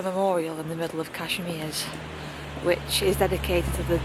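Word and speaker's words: Kazimierz: I've just overheard a tour guide pronounce the name and it's Cashmir. So, I was pronouncing it wrong. Just passed a memorial in the middle of Kashmir, which is dedicated to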